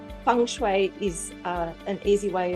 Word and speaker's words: Feng Shui: Now, there are different ways of even pronouncing Feng Shui. There's Feng Shui, Feng Shway, Fung Soy, Fung Shway, uh and when people can't remember how to say it properly, I say it's like Fung Shway is uh an easy